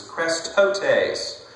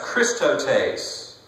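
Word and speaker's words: χρηστότης: Well, the Greek word for kindness is krestotes, or it could be pronounced Christotes.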